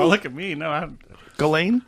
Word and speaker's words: Ghislaine: It's Ghislaine. Do you know? Oh, look at me. No, Ghislaine?